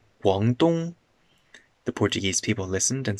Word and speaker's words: Guangdong: They asked the locals how to say the name, and the locals said, Guangdong.